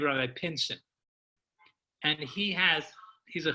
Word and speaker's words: Pinson: n pin as in pin son as in son all right but he